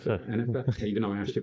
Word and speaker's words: Enefer: Will Enefer, is pronounced it correct? Enefer, even though I asked you before.